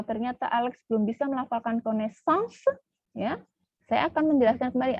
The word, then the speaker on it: connaissance: akan menjelaskan kembali, Alex, lihat coba di suku kata terakhir itu ada, ya, se. Ya, suku kata terakhir ada beberapa suku kata dalam itu, ada con, nes, sang, se. Ada 5. Ya, ada 5. Ya. Berarti suku kata terakhirnya bukan ong, tapi se. Maka se-nya harus tetap dibunyikan.